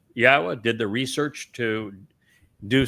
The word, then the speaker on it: Yahweh: We uh are the first to prove that it is pronounced Yahweh.